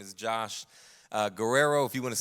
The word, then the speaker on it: Guerrero: As Keith mentioned, my name is Josh Guerrero. If you want to say it like my wife, Guerrero, if you want to get spicy, and you can get spicy all you want to.